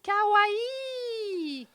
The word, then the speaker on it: kawaii: Bah, en japonais, on prononce toutes les lettres. Voilà, il n'y a pas de combinaison de syllabes, de voyelles.